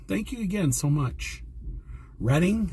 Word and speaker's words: Reading: Reading? That's how you say it, right? Reading? Kind of like the railroad.